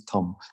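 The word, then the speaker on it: taṃ: feature in your heart is Tom t-a-m uh the straight line across the a DOT under the m so that's pronounced like tongue this chart that imagining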